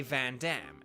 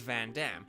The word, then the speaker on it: Vandham: But like, so his name is spelled Vandham, right? And you're like, oh, so it's like Vandam, like that's Vandam. You know, it's like, but they all say Van Damme, and it is Van Damme.